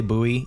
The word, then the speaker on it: buoy: you say it right I say buoy even though technically it's more boy because buoyancy right um so could be